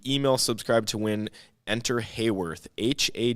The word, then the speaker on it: Haworth: this guy like oh Hayworth h a w o r t h yeah so like hallworth yeah I don't know why it's pronounced Hayworth I think it's cuz it's their name yeah a lot of